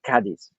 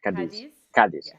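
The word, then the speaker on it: Cádiz: beautiful scenery here in cadiz uh actually it's pronounced caddies not kadis the accent is the accent is on the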